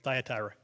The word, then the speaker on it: Thyatira: I can't remember how to pronounce that. How do you say it? What was it? Thank you, Thyatira.